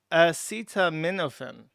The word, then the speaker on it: acetaminophen: PS, it's pronounced acetam acetaminophen." Oh, I called it morphin. Acetaminophen. Sorry, I did get that wrong.